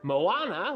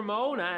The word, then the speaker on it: Moana: Or Moana. I keep saying it wrong. I kept saying Moana. But it's Moana, I suppose. Not that it really matters, but I might as well get it right, right?